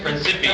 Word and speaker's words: Principe: Right, Principe. That's how he's pronounced. Not Principe. If you say that, you're wrong.